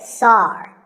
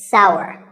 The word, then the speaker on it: sour: pronounced sour some people say sar that is a mispronunciation the only correct way to say this word is sour many words in the